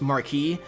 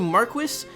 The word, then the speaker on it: Marquis: game I know normally in common speech it's pronounced Marquis but I did some research and actually Marquess is the official English pronunciation for Marquis it's